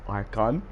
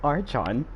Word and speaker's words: Archon: I was like, "It's Archon. It's not Archon, okay?"